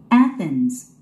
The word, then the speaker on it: Athens: Athens. Athens. Athens. 스트레스가 맨 앞에 있죠? 스트레스가 제일 중요하다고 그랬습니다.